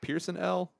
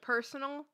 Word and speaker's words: Person L: Pearson L? It's spelled person. Like personal? Oh, yeah. Like oh, personal. Oh, okay, person yeah, L.